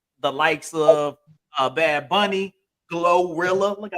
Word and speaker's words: GloRilla: The likes of Bad Bunny, Glorilla.